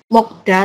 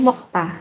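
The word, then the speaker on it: 먹다: seperti tadi mok mokta ya makan mok sama da bacanya bukan mok da tapi mokta gitu ya.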